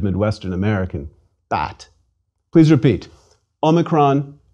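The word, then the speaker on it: ὄμικρον: Omicron is a small O, a micro O, which is to say a short O like the O as in ought, but a shorter, a closed O, as in the British pronunciation of pot.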